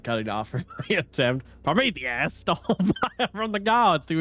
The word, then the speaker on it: Prometheus: Are you familiar with the story of Perometheus? Why did I say it like that? Prometheus. Prometheus. I'm frowned at her.